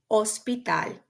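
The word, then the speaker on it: hospital: also wanted to highlight that it's um it's mute it doesn't have a sound in ESP just um um like in these examples here we have the word otel ospital can you guess the pronunciation of the next word see onesto onesto and then finally we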